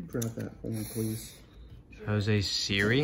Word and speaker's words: Siri: Jose Siri? Is that how you pronounce it? Oh, Jose Siri, yeah.